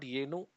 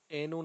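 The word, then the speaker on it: ಏನು: So it's not Yenu, although some people pronounce it like that. It's Enu. So what? So Enu Nimma Hesaru.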